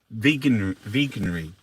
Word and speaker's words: Veganuary: Veganuary. Veganuary. Veganuary. Vegan. How do you pronounce it?